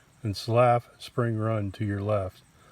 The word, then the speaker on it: Slyhoff: The area where you are standing, was once the homestead of Thomas Slyhoff, pronounced Slaff, excuse me.